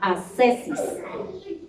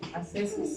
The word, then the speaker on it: ascesis: las características de la oración que se llama ascesis ascesis ascesis es se escribe con a s c e s y